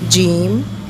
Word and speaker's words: jeem: Jeem, G-double-E-M, jeem. Ha, try to pronounce this letter from your throat.